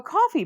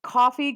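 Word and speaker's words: Ko-fi: see how this goes have a coffee page coffee Kofi I'd really done a house pronounced but I think it's coffee okay coffee if he okay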